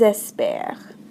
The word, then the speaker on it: espèrent: J'espère, tu espères, il espère, nous espérons, vous espérez, and then do we ever pronounce the ENT? The answer, of course, is no. So, elles espèrent.